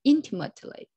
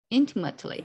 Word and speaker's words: intimately: more attention the first the stress is on the first syllable yeah intimately intimately okay thank you so